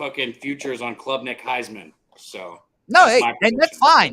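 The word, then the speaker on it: Klubnik: Club Nick good so who knows Nick it's Club Nick bro you probably are saying it wrong yeah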